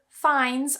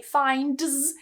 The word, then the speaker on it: finds: find finds found found notice that with fines i'm not pronouncing that d that's because that particular